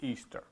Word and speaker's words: Ishtar: Tammuz's spouse's name was Ishtar, pronounced Easter. Ishtar. You pronounce it Ishtar. They pronounced it Easter.